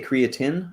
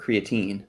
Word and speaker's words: creatine: Do you say creatine or creatine? Creatine. Everyone knows that. That's normal. Creatine. Well, some people say creatine, but then you No.